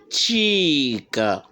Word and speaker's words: cheek: vocabulaire ch la jour alors ça c'est une voyelle longue à chaque fois each time you word that means a long long sound à chaque fois que vous remarquez un mot s'écrit ou bien à l'autographe de double e et bien il s'agit bien d'une voyelle longue ici on dit cheek la joue chest la